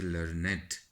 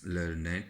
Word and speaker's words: learned: But when we talk about some adjective form, we say learned. This is the double sound having two parts, learned, two syllables before any person's description.